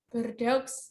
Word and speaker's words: Bordeaux: Beliau merupakan kelahiran Bordeaux, apa tuh bacanya? Bordeaux, Prancis ya, di Prancis sana jauh ya.